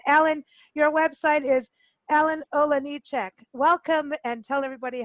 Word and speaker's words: Olejniczak: So it's like Ola, Me too. Ole at the beginning also. Yeah, it's like Ole.